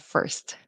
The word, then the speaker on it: first: Um sometimes very often I hear Spanish speakers say for or first instead of first. You really want that T to pop and you really want to pronounce that consonant cluster because in Spanish I